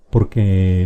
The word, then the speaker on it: porque: Porque sí, porque me dio la gana, porque no quise hacerlo, etc. Es una explicación. Y fíjate bien cómo es la pronunciación. Porque es una palabra grave.